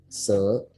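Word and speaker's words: 四: Lalu yang keempat itu ada se ke bawah ya. Ingat i itu di ujung dibaca e. Jadi kayak se dan itu nadanya turun ke bawah jadi se.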